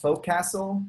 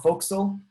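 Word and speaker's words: Forecastle: something similar in yeah we use a4 it's pronounced folk castle but or fo'c'sle but it's written for castle it's a great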